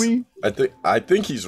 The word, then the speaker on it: Noomi: Just, no, is it Naomi? What is it? I thought it was. No, I think it's Noomi?